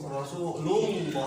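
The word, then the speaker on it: رسول الله: Bukan rasulullah ya, bukan pakai wawu, rasulullah, langsung ke lam.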